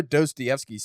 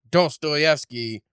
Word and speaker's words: Dostoevsky: But it's funny because it's like, well, why do we pronounce it Dostoevsky when it's still not close to what it originally is in Russian anyway? So it's like, why do